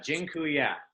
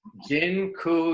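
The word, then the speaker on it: dziękuję: so much awesome and Jin Kuya by the way I just taught you all the Polish word for thank you it's gin cool yeah that I'm not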